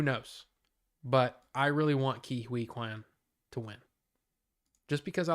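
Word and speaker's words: Ke Huy Quan: Hirsch, Barry Keoghan, and Ki Hui Kwan. I found out today it's actually pronounced Ki Hui Kwan. Ki Hui Kwan. That's how you say it.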